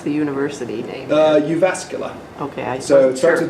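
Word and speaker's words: Jyväskylä: the Faculty of Education and how do you pronounce the University uh you vascular okay so it starts with the JY v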